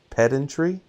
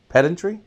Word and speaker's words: pedantry: pedant pedantry pedantry and they were saying it rhymes with pendant so it's pedantry pedantry I guess that's it